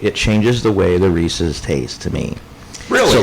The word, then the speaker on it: Reese's: name reesei it's Reese possessive Reese's anyway when you start toying with the ratio when you start changing the shape it changes the way the Reese's taste to me really